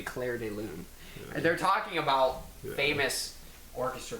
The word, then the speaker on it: Clair de Lune: red pubes office see I know it's not pronounced like that but I had to say it it's supposed to be Clair de Lune they're talking about famous